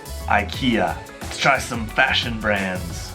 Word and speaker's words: IKEA: 宜家 IKEA, 一共有3个音节 IKEA.